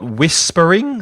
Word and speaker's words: whispering: to read we've got Whispering so a silent h there Whispering it might help